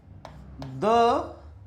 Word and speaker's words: the: देखिए, दा हम जब बोलते हैं, जब क्या लगता है, कॉन्सोनेंट्स लगते हैं। क्या लगते हैं? कॉन्सोनेंट्स लगते हैं। जैसे दा प्राइम मिनिस्टर, दा बॉय।